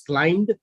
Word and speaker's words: climbed: i read the word climbed so that the b might sound but if you want to pronounce it like this climbed then the b can be ignored and you can uh